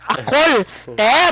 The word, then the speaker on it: Akol: Pronounce in a mabilis maragsa manner. Akol. Bali correct, Ma'am Eden. It's Akol ang middle name ko.